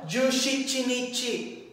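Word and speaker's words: 十七日: Jushichinichi. Jushichinichi. So, yung shichi, di ba, special reading po ng 7. Okay, so dito po, sa days of the month ng 17, magagamit po natin si Jushichinichi.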